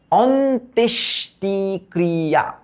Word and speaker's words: অন্ত্যেষ্টিক্রিয়া: ফার্স্টে আমরা উচ্চারণ করছি অন, হ্যাঁ, তারপর আমরা উচ্চারণ করছি তেশ, তারপর আমরা উচ্চারণ করছি তেশ, অন্তেশ, তারপর উচ্চারণ করছি টি, অন্তেশ টি, তারপর উচ্চারণ করছি ক্রি, ক্রি, তারপর উচ্চারণ করছি আ, অন্ত্যেষ্টি ক্রিয়া।